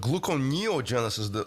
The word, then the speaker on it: gluconeogenesis: right glucogenic amino acid so what gluconeogenesis the stress is on the neo so it's the actual